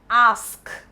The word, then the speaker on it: ask: However, the right way to say this word or pronounce this word is ask. Ask. So it's ask. ASK remains as it is. It is pronounced ASK is pronounced as ask. Ask. Open your mouth wide.